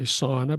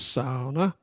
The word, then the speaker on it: sauna: You know, the big thing in in uh in Finland is the sauna, as we say, sauna, but they say the correct pronunciation is sauna.